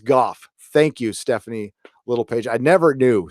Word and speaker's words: Gough: at the end when Guy Pearce says yes what if after the brilliant and true speech by Jeremy Irons yep first doctor thank you fragmenting doors and corners everybody it's pronounced golf Thank You Stephanie little